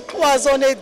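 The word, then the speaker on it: cloisonné: So I know you have some materials like, am I saying it right? Is it cloisonne? Cloisonne, yes.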